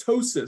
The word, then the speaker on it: ptosis: have a droopy eye it's called ptosis spelled with a p though the other two